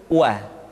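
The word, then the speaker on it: و: Selanjutnya huruf wa diucapkan dengan cara memonyongkan dua bibir kita.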